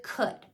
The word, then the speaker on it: could: go Sound by sound the first sound it's spelled with c that's totally phonetically regular the second sound uh was spelled with o u l so what I would say to them is it sounds like uh it's spelled o-u-l and I would repeat